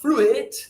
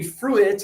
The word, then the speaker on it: fruit: And but why do we have a U and an I? I don't know why English does this. Another word similar is fruit. Right. It's not fruitt, right? But a lot of students when they read letter for letter, they say sew it. I don't want to get any fruit on my sew it. No. Right. It would be suit and fruit.